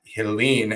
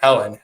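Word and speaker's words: Helene: affected from Hurricane uh Helen is how you say it not Helen Helen so absolutely so you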